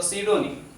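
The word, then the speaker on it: pseudonym: बचपन में तो हम लोगों को आदत होती थी पी स्यूडो फोर्स पढ़ते थे, लेकिन बाद में पता चला कि साइकोलॉजी की तरह इसका भी पी क्या है? साइलेंट है। तो सीडोनिम, नीम का मतलब होता है, नीम का मतलब होता है नाम, ओके।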